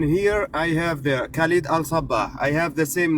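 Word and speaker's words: Al Sabbah: And the last name is spelled It's Al Sabah.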